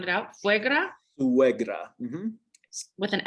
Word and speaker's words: suegra: Can you spell that or sound it out? Suegra?